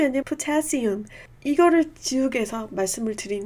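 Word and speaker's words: potassium: 칼륨이 아니라 포타시움.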